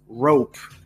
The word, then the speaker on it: rope: as you guys know you don't actually say the E never so it's not it's not row P it's rope it's an it's a it's a long o uh if this was not there it would be Rob right that kind of